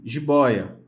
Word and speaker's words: jiboia: Assim como a palavra também jiboia. Jiboia. Jiboia é uma palavra paroxítona, tem a sua sílaba mais forte da palavra posicionada na penúltima posição, tá?